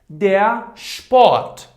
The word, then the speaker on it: Sport: If at the beginning of the word, after S, we have these two alphabets, I mean T or P, then S should be pronounced like sh.